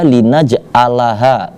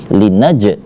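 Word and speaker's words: لنجعلها: itu huruf Ain nah jangan sampai dibaca linaj alaha akan tetapi linnajah semacam di tenggorokan di dalam itu juga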